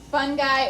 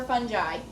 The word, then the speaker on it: fungi: isn't high nominee protests it's like i it rhymes with i so what is it fun guy or fungi either way is correct smith make sure you're